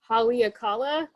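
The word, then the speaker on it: Haleakalā: It took me a long time to figure out how to pronounce. Let's see if I can do it right. Haleakala, I think, which is one of the other mountains in Hawaii that's sacred to the Hawaiian people.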